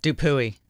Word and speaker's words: Dupuy: what's the most common mispronunciation of your last name? Dupuy. Dupuy? Dupuy. Dupuy's the funny though. That's funny. Dupuy. Dupuy.